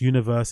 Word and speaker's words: UNVRS: in the island's history UNVRS pronounced universe is set to open it announced itself with a trailer including um Will Smith.